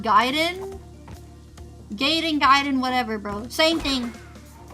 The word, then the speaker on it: Gaiden: Or Gaiden, sorry, I keep saying Gaiden. Bam! Look, you literally spell it G-A-I. Gaiden.